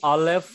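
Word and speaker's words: אלף: Say after me, Aleph, silent letter. Aleph, silent letter. Silent.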